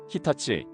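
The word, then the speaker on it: 日立: 우리는이 환자들을 조일립 청수라고 읽지만 일본에서는 아사이 히타치 시미즈라고 발음하죠.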